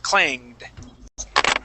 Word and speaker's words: clanged: clanged clanged clanged okay let's pronounce that D at the very end clanged clanged okay good